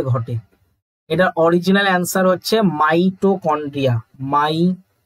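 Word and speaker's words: mitochondria: Krebs চক্রের বিক্রিয়াটি সাইটোপ্লাজমে ঘটে এটা একদমই ভুল মাইটোকন্ড্রিয়াতে ঘটে এটার অরিজিনাল অ্যানসার হচ্ছে মাইটোকন্ড্রিয়া মাই টো কন্ড্রিয়া এটা হচ্ছে এর অরিজিনাল অ্যানসার ঠিক আছে মাইট্রো মাইটো মাইটো না মাইটো না মাইটোকন্ড্রিয়া ঠিক আছে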